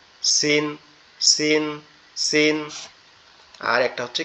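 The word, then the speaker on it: س: ঝাটা উচ্চারণ করলাম না জিহ্বার আগা নিচের দুই দাঁতের আগার সঙ্গে এখান থেকে উচ্চারণ হবে সিন সিন সিন আর একটা হচ্ছে কি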